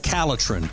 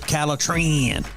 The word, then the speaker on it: Calatrin: product that you need is called calatrin or you can pronounce it calatran very easy for you